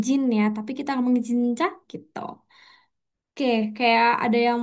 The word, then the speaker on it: Jin: Kita kan ngomongnya bukan Jin kayak Indonesia ngomong Jin dan Jun gitu, bukan. Tapi kita ngomongnya Jin, Jin gitu. Kayak tipis, lebih tipis gitu.